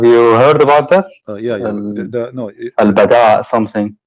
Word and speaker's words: البداء: or al-bala? What? Sorry. I'm trying to understand what you are saying. Al-bala or al-bada? Well, bada. Al-bada.